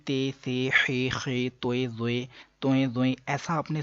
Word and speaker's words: ظ: کے مطابق عربی لہجے میں ادا کریں، اردو تلفظ سے پرہیز کریں یعنی کہ بے، تے، سے، ہے، خے، توئے، زوئے وغیرہ ہرگز ہرگز نہ پڑھیں بلکہ با، تا، سا، حا، خو، تو، زو پڑھیں.